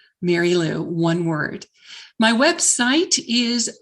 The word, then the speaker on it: Merrylue: touch on okay great yes my name is mary lou and mary lou is spelled a little unusually it is m e r r y l u e mary lou one word my website is big quit survival